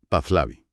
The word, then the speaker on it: Pahlavi: El término se pronuncia pazla con una leve aspiración en la h intermedia. Pazlavi. Pajlavi.